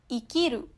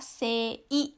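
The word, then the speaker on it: 生: Nah, di Jepang ada dua jenis cara baca kanji, yaitu kunyomi atau bacaan Jepang, yang tadi saya udah bilang, ikiru. Terus yang selanjutnya adalah bacaan onyomi atau bacaan Cina. Ini dibacanya adalah sei, ya, sei.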